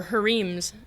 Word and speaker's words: harem: the idea of the harems or her Eames as some pronounce it in Egypt a lot of individuals